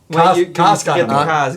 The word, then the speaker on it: Casg Annamh: All right, let's get the pronunciation right. Me. Aberlour Annamh. Casg Annamh.